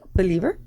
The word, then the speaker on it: BEELIVER: And I said, well, it sounds like believer. So it's spelled BEELIVER.